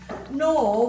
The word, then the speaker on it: gnaw: Nor, we've got the silent G here, and we could have a silent G or K before an N, but this is one of the silent G words.